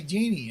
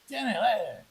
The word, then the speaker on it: Jenna: I kept wanting to say Jeannie, and it's not Jeannie. I said, no, it's not Jeannie. Not Jeannie. Not Jeannie. Jenna. Stop.